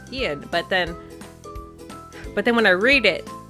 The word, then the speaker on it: Ein: when I read it when I hear it in the show and I'm like of course it's like Ian but then but then